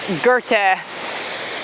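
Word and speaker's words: Goethe: there I love how I think it's it's Gerte I think is how you pronounce it but it's spelled G O E T H E he is attributed as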